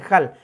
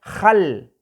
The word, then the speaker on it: jal: Ustedes ahí pueden leer jal en simple, en español sería jal, pero para pronunciarlo en el idioma mam, recuerden el sonido de la palabra J, es raspar un poco la garganta. Entonces, para leerlo sería jal, jal.